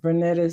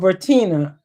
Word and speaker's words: Vertina: Vernetta said, oh, Vertina, thank you. And I'm saying it wrong, but thank you for correcting me because I'll be saying people's names wrong and I hate it. Vertina. I'll remember it now. Yeah, that is Vertina.